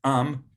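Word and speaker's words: עם: So just people is am, and then the people is ha'am.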